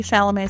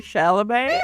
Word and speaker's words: Chalamet: make fun of ballet if both of your names rhyme with it. Timothy Ballet Chalamet.